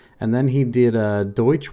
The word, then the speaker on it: Deutsch: And then he did a Deutsch Works or De Works is how they pronounce it.